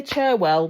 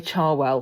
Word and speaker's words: Cherwell: But yeah, so I say Cherwell, but some locals say Charwell.